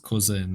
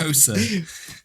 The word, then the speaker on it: Xhosa: Mispronounces co in. That's Yeah, I noticed that. Kosa.